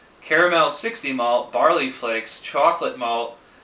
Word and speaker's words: Choklat: the the chocolate just it's pronounced just chocolate even though it's spelled kind of funky um I had considered